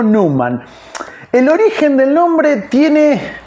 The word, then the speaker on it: Numan: Eh, todos lo conocemos así como Gary Newman, pero no Neuman, New hombre, sino Newman.